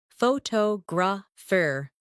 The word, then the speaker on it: photographer: In English, some words are pronounced with extra emphasis on one part. For example, photograph, photographer, and photographic. The stress moves and that changes the sound.